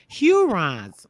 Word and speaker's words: Hurons: So it's pronounced the Hurons.